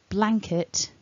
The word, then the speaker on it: blanket: word so for example with the first word we need to say blanket a not blanket so the stress is at the beginning so as you work